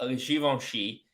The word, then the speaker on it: Givenchy: you didn't know um so I guess about shivon she it's a French brand by a french guy